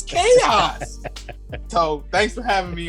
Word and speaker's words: Kayos: And it's chaos. So I've been getting that for years, and I originally had it spelled with like chaos, but with a K, and then people would start pronouncing it Kahas, and I'm like, all